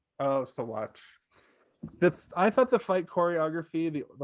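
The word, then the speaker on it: Saguache: Meanwhile, Cabazon, whose voice is still high-pitched and wants revenge against Packer for their fight in Saguchi, states the townfolk came to see bloodshed and tries to trigger the gallows.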